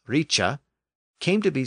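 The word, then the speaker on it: rice: H for that sound so r i c e pronounced Richa came to be spelled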